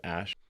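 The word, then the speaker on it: Æ: letter x and then the AE is like pronounced Ash his full name is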